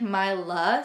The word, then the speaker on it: Myla: Me and Gage both like Myla, so it's like Milo but with an A at the end, and we would spell it M-Y-L-A, which I think is really pretty.